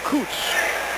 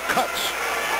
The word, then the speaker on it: Cutts: Said, no, don't pronounce his name Coots. He doesn't like that. He wants to be now known as Cutts.